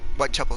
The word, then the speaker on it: Whitechapel: Whitechapel, sí es Whitechapel. Sí estaba lo correcto, sí se pronuncia.